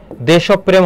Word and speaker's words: দেশপ্রেম: দেশপ্রেম এটা হচ্ছে বানান, এর উচ্চারণ কি হবে বলতো, এই যে দেশব প্রেম হবে, কি হবে, দেশব, যার সঙ্গে র ফলা থাকে সেই বর্ণটা দিতে হয়, পয়ের সঙ্গে আছে প 2 বার হবে, দেশব, তারপরে কি হবে